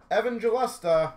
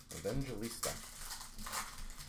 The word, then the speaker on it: Evangelista: box for the wild Evan gesta I keep feel like I say that name wrong for the pr is that right Evista Evangelista I keep saying it wrong Evangelista we got a star